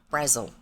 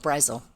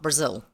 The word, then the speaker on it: Brazil: specifically from South America so they pronounced it Brazil like Dazzle Razzle Dazzle you know with the double z in it but they pronounced it Brazil and everything you read about this lady that's one of the first points they make is her name is Angela Brazil not Brazil anyway so um we